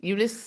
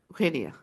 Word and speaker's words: Eugenia: Eunice How would you say it in Spanish? Eugenia.